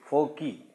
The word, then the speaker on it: foci: The pronunciation of this word is foci.